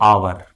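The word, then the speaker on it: hour: अब आवर, एच ओ यू आर, एन आवर, H silent है, ह नहीं बोल रहा है, हावर नहीं बोलते हैं, आवर बोलते हैं।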